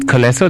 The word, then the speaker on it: Collesso: is it Collesso? That's the correct pronunciation? Yes, that's correct.